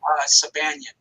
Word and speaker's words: Sabanian: So I always say Beyond, but I think I'm saying it wrong, right? Sabanian. Sabanian. I have to write that down. It's like Sebastian, but without the ST.